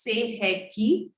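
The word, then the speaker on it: Sei He Ki: So it is pronounced as Seheki.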